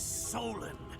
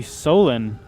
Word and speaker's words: Solon: back it was actually solon uh he actually went to ramyar village to stir up trouble huh also his name rhymes with colin so i'm not sure